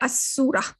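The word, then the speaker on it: السورة: Versus if there was a al here, if there was al in front here, you would not have pronounced this lam. You would say as-surah.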